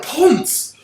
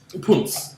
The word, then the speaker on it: Ponce: Ooh, I wonder if we get the Ponce. Really? I'm sorry. There's a character in this that literally is a ponce. It's actually pronounced punce.